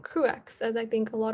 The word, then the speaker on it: CruX: So a little about CruX at UCLA.